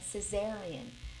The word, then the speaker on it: cesarean: Cesarean. But Karen, how can you say cesarean? It's written, it's spelled Kaiser.